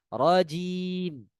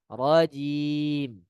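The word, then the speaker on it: رجيم: Kemudian merubah huruf jim, ya, menjadi jim medoknya orang Jawa. Tidak boleh, ya, tidak rajim, bukan, melainkan rajim, ya, dengan bacaan yang ringan.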